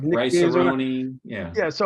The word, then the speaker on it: Cerrone: I would write in parentheses like.